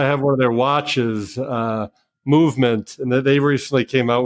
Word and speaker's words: MVMT: It's spelled MVMT, Movement.